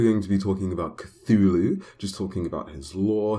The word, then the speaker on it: Cthulhu: that good stuff so his name isn't supposed to be pronounced by the human tongue so technically no matter how you say his name you're not going to be able to say it right so I'm just going to go with cthulu cuz that's the normal way most people say it so the alter